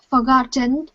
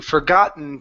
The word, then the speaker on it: forgotten: an umbrella ok almost so you're saying forgotten and you're pronouncing a small T at the very end ok so combine your n to the to the word to forgotten to forgotten too good she had forgotten